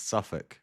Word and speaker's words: Suffolk: It's Suffk. It's pronounced Suffk.